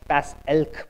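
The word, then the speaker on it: PACELC: behave right uh so this is pronounced pass elk by the way uh it's a mouthful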